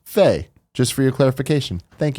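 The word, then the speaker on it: Fe: James the Kuma says EA's Faye is in fact pronounced Faye.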